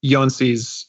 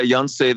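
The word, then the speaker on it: Jónsi: the past was um jonesy's album go um am i pronouncing that right peter yeah yonsei the lead singer yancey bergerson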